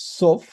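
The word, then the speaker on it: סוף: Sin embargo, es mucho más probable que la expresión Suf viene de una palabra hebrea que se escribe exactamente igual, pero se pronuncia un poco distinto, es Sof, que significa el final.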